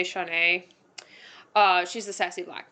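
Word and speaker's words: Shaunee: attachment issues and then shawnee or shanae i've seen people pronounce it different ways i'm just going to continue to say shaunae uh she's a sassy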